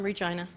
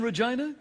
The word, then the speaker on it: Regina: And what everybody in Reginaina likes to say is the city that rhymes with fun.